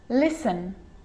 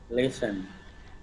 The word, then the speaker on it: listen: sneaky that one now the letter t can also be a bit sneaky and it can also be silent like in these examples there's quite a few listen listen listen listen castle castle castle